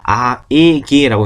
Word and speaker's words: AEG: 그리고 가전제품에서 중에 아에기, 이건 AEG가 아니고 아에기라고 있는 겁니다.